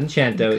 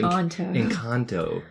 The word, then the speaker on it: Encanto: Not Enchanto. Encanto. Encanto. I got to learn to say it properly.